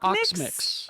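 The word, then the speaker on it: Oxmyx: Omix. Oxmix.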